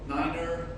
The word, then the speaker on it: niner: for an example you often hear people say niner zero a little bit different so it's pronounced five and eight eight seven seven pretty